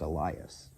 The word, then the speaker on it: Elias: Okay, so I think according to this, it's actually supposed to be pronounced Elias.